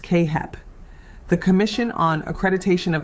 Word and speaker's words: CAAHEP: Your program must be accredited by either CAAHEP, pronounced Kay-Hep, the Commission on Accreditation